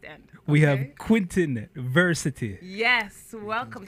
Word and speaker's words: Vercetty: have Quentin Vercetty. Yes, welcome. So how you say your Greetings, name? Like adversity? Sure. It rhymes, right?